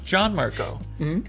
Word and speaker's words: Gianmarco: And then I mean at time they go, "No, it's John Marco."